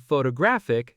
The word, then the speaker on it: photographic: Photograph stresses the first syllable photograph but photographer stresses the second photographer and photographic stresses the third photographic.